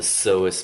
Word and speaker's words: psoas: Okay, this large muscle here is called the psoas major, spelled with a P.